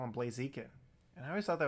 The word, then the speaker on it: Blaziken: i know is wrong it's blaziken because he's a chicken but um when i was a kid i would call him blaziken and i always thought